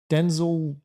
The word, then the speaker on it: Denzel: and he explained it's pronounced It's Denzel.